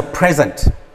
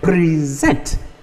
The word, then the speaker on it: present: one this is present this is a present i give you this take this as a present it's a noun but when i say present i am asking you to give that is the verb then rebel rebel he